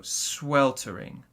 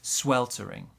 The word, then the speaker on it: sweltering: our pronunciation quickly so our stress in this word is on the first syllable here sweltering so sweltering small stress there sweltering our next word this